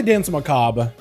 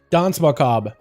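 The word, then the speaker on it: danse macabre: are like UK like the English pronunciation is dance Macabre you say the whole thing every letter English one the American version is dance makab honestly and like there's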